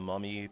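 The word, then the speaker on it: Mami: That's how it's pronounced, but that's not how it's spelled. Spelled M A M I.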